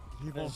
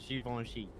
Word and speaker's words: Givenchy: Givenchy. Givenchy. What'd you say? How say again? Givenchy. Givenchy? Who the fuck pronounces Givenchy?